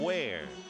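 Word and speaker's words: Weir: 32 years old come the 29th of August, from Kosciusko, Mississippi, and lives in Ware. Ware is spelled W-E-I-R, and they have maybe 500 people living in the town.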